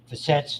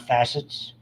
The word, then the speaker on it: facets: Those are facets, not facets. In my world, you have to accent the right syllable.